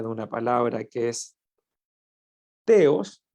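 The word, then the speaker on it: θεός: una palabra que es te os óseos como lo pronuncian algunos la th como si sonara como una zeta la palabra ateos que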